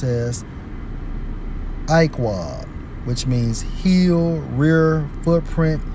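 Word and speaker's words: עָקֵב: Let's focus on heel in the Hebrew, Strong's H 6119, pronounced as Iqwah, which means heel, rear, footprint, hinder part, hoof.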